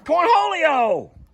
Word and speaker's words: Cornholio: go buddy go come on santiana no that's corn holyo sheesh oh my god that's mean that's corn